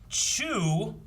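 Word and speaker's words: Choux: bring in maybe yeah chew i think is how you say this name c-h-o-u-x yes true like a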